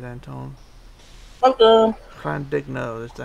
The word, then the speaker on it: Llandudno: Llandudno, is that how you pronounced it? That's right, Blue. Llandudno.